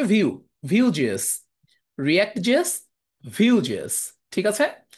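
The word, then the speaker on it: Vue: একটা ফ্রেমওয়ার্ক হচ্ছে ভিউ এটার বানান হচ্ছে ভিইউ এটার উচ্চারণ হচ্ছে ভিউ ভিউজেস রিক্টজেস ভিউজেস ঠিক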